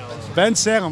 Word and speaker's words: Bensalem: How do you say that anyway? Bensalem. Bensalem. I did good. Like it looks.